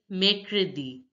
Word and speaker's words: mercredi: Wednesday is pronounced as mercredi. Mercredi. Mercredi. The ER in French, the ER sound in French is air. Air.